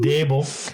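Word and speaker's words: Daboll: Not Brian Dabble. Brian Dable.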